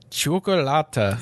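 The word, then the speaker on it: Cioccolata: God, this fucking name, Chocolata. It's like kind of how they say it. It's like chocolate, so it's like chocolata.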